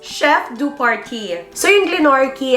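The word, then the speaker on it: chef de partie: south island to glenorchy hotel chef or paris pronounced chef do party so in glenorchy it's a small town for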